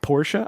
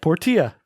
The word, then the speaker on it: Portia: Or is it Porsche? I don't know how to say that game I think name. it's Porsche. I would say Porsche. I said Portia. You'd be wrong. Could be. It's Porsche. Pronounce it Porsche.